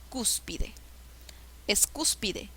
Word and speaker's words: cúspide: mayor fuerza de voz cúspide es cúspide cúspide o cúspide es cúspide la sílaba que lleva la mayor fuerza de voces es la ante penúltima sílaba qué tipo de